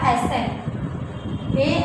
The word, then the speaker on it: ascent: रहा है सी, तो इस सी को हम नहीं पढ़ेंगे, छोड़ देंगे। ये क्या हो जाएगा हमारा एसेंट, ASCENT, तो ये हमारा क्या हो गया एसेंट।